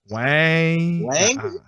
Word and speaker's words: YNG: How you pronounce that? YMG? YNG. Wang.